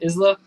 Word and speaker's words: Isla: then uh he's the Fisher that's how you pronounce it Isla Isla the attractive redhead yeah she's the Tooth